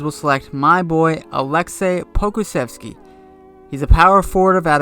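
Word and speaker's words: Pokuševski: With the 11th pick, the San Antonio Spurs will select my boy Aleksej Pokusevski. He's a power forward out of Olympiacos, and yes, that is how you pronounce his name.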